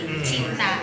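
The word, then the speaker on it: cinta: They pronounce this as che parang che chun automatic yun pag c i t a chinta ganon tapos yung letter e nila it's may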